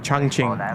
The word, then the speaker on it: Chongqing: Oh, it's pronounced Chongqing.